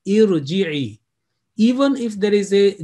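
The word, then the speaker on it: ارجعي: Mostly people I have heard, they would say arji'i, okay? But actual pronunciation, it will be with kasra, irji'i, because I said alif, the next letter, sakin.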